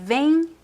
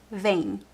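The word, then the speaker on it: vêm: Uh so the pronunciation of the singular and the plural is the same for the verb v right vis. So the pronunciation does not change because of this uh little uh graphic accent is the same vain singular vay two people vain same pronunciation vain vain.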